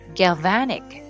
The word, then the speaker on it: galvanic: 두 번째 강세가 있으니까 어떻게 되죠? galvanic 이렇게.